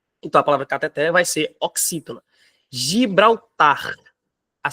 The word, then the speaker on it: cateter: oxítona reparem ó cateter a sílaba tônica é a última então a palavra cateter não é cateter tá é cateter então a palavra cateter vai ser oxítona Gibraltar